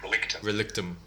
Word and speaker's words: Relictum: about the whole relictum is it pronounced as relictum or is it relic tomb well uh it depends on what language you are well you prefer to the english it will be like relictum uh yeah it may